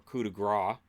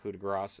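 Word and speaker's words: coup de grâce: so Finn does the coup de Grasse or coup de Gras as it's supposed to be pronounced call it coup de Grasse it's like that's not it's coup de Gras anyways he does the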